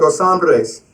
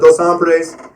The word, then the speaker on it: Dos Hombres: It was called Dos Hombres. Now, you got to roll your tongue when you say it. Otherwise, you ain't saying it right. But I went to this place called Dos Hombres.